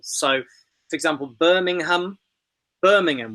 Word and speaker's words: Birmingham: syllables so for example Birmingham Birmingham we say in English the place name not Birmingham so the a at the end Birmingham just about disappears it's a sort of